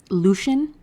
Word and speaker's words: Lucian: The only ones that are really relevant is we get introduced to Lucien, who I learned in book 3, it's pronounced with 2 syllables. Lucian is how I guess Lucy intended on saying it.